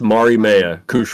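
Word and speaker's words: Mariemaia: characters of the character's name yes Mario it's Mari Maya Mari Maya that sounds so simple and I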